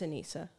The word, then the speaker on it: Anisa: Is that how you say it, or is that because I was saying Anisa earlier and people are like, that's wrong? Yeah, it's Anisa. Yeah. Anisa would be with 2 S's.